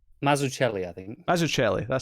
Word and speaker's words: Mazzucchelli: Although art is by Dave Mazzucchelli, if I'm pronouncing that right. Or is it, sorry? Go on. Mazzucchelli. Mazzucchelli, I think.